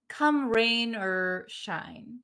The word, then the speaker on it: come rain or shine: come rain or shine this ore in american english becomes very short come rain or shine come rain or shine